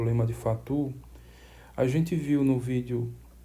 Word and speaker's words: Fatou: Aqui a escrita se for ler aqui na pronúncia português, seria Fatou, mas francês, matemático francês, a pronúncia é mais ou menos essa que eu falo aqui, lema de Fatou.